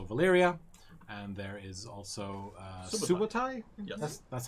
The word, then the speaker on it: Subotai: There's also Valyria, and there is also Subotai. Yes. That's how you pronounce it.